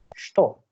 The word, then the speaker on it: что: It is not cha. It is not cha. We write with cha, but it's not cha. It's sh, sh, sh, sh, sto, sto это, kto это.